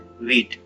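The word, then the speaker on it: wheat: गेहूं को दोस्तों इंग्लिश में व्हीट कहते हैं, इसमें एच साइलेंट होता है, व्हीट।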